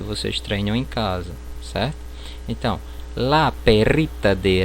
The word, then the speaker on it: casa: No espanhol esse S ele não terá som de Z. Por exemplo, casa, eu vou pronunciar caça, certo?